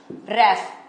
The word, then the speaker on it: href: H separately REF, इसे ऐसे pronounce करते हैं href।